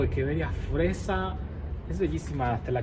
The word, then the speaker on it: Echeveria: Este, lo habré pronunciado bien. Es una echeverría o hecheveria fresa.